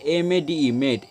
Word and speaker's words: made: দুটার উচ্চারণ প্রায় একই, মেড আর মেড এদের উচ্চারণ একই কিন্তু এদের মানেটা আলাদা। দেখো প্রথমে মেইডের বানানটা দেখো, MAID মেড, এই মেড মানে হচ্ছে কি বললাম, বালিকা। আর এই যে মেড, MADE মেড, এই মেড মানে হচ্ছে